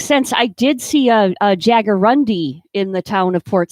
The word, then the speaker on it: jaguarundi: a jaguarundi? A jaguarundi is That's a big word for this show. Yeah. wild cat. And if you look it up, it's spelled jaguar and undi, UNDI.